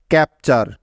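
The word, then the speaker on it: capture: ঠিক আছে, টি ইউ আর ই একসাথে মিলে চার এর মতো সাউন্ড তৈরি করে থাকে, অর্থাৎ যেখানেই পাবে টি ইউ আর ই এই চারটি বর্ণ একসাথে, সেখানেই উচ্চারণ করবে চার এরকমভাবে।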